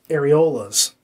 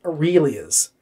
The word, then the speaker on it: areola: fox um he just could not manage to say the word areolas properly now you know i'm not a prude and i do know how to say the word areola and i know what the word ariel is and he kept saying aurelia's i really is and it kind of